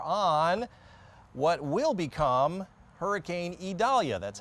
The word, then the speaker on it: Idalia: all eyes are on what will become hurricane idalia that's how it's pronounced pretty intense storm that is right in